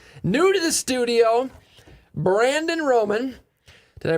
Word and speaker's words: Romann: luminate home loans new to the studio brandon roman did i pronounce that right you sure did is there